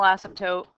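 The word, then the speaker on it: asymptote: to be your horizontal ASM toote line that the graph approaches at the far right and the far left you don't pronounce the P Asm toote okay we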